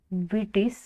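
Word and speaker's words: Vitis: होगा scientific name grapes का scientific name होगा बटिस विनी फेरा ठीक है वी आई टी आई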